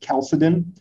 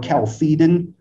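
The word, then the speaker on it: Chalcedon: city of calcidine uh so some people pronounce it differently some people pronounce it calcidine or calcitin or calcidon different pronunciations out there um in that council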